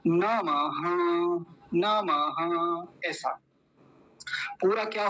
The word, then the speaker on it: नमः: परमात्मने परमात्मने ऐसा नमः ये विसर्ग बन रहा है तो ये विसर्ग आधे ह जैसी आवाज देगा जैसे आधा ह हो तो क्या बोलेंगे नमः नमः ऐसा पूरा क्या